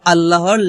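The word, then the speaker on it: الله: লামটাকে বলা হয় লফজ আল্লাহর লাম। তো এই লামের ডাইনে যদি জবর কিংবা পেশ থাকে তাহলে সেই লামটাকে পুর অথবা মোটা করে পড়তে হয়। তাহলে এখানে আমরা আল্লাহ না বলে বলব আল্লাহ মোটা করে।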